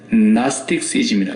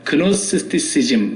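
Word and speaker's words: Gnosticism: 영지버섯이 아니고 영지주의, 나스틱시즘이라 그래요. 영어로 나스틱시즘. 그래서 본래 헬라어의 영지, 지식이라는 말이 그노시스라 그러거든요. 그노시스. 그래서 그노스티시즘. 그런데 그 앞에 G자가 발음이 나오지 않기 때문에 묵음이 되기 때문에 나스티시즘이라 그래요.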